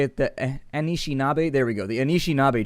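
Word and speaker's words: Anishinaabe: I think is how you say it the anishinabe there we go the anishinabe tribe that's what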